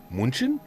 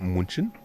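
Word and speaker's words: München: Munchin. Munich. You say with a proper German accent. Munchin.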